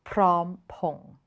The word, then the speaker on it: Phrom Phong: Or if you need to get off at the Phrom Phong station, it is Prom Pong.